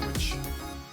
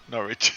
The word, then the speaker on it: Norwich: And the ones that descend are Burnley, Watford, and Norwich. Norwich, not Norwich, Norwich, Norwich. Norwich. Sorry, yeah. You don't pronounce the W.